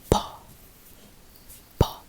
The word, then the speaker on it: po: It's just po.